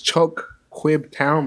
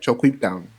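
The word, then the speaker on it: ChocQuibTown: No, but you don't say it like that. It's it's Choquib Town, but they say it like Choquib Town.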